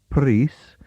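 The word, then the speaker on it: Prhys: If you want to actually obtain a copy of it, then you should write to Joe Preece. That surname is spelt P-R-H-Y-S, and I assume it's pronounced Preece, at the Cornish class, the City Literary Institute, Stukely Street, London, WC2.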